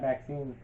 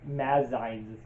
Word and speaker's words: Maxixe: When it's over, you pat Maxine, who's fallen asleep. That's not the pronunciation of the name. It's like Mazize. It's Maxixe. So Maxize. Mazize.